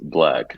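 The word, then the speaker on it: 6lack: don't know a black it's spelled like black was it's spelled with six instead of a b so six black okay so the black the D is six okay that's one of my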